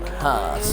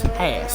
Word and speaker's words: Haas: It's not Haas. It's Haas. Come on, mate.